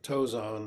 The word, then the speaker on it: Tozan: the uh they're called the five ranks of tozon or the the chinese pronunciation is tongshong but i prefer the japanese because that's what i grew